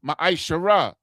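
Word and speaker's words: מעשר: And Malachi 3:es 8-10 means 10th in the Hebrew and is pronounced maishara.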